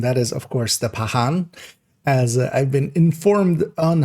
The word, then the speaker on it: Pakhan: And that is of course the Pahan as I've been informed on how to pronounce it.